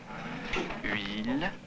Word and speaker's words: huile: Mettez bien les organes intérieurs, la langue, tout ça, pour prononcer comme pour prononcer le U. Et là, vous dites rapidement après la voyelle I. Alors ça fait huile, huile, huile.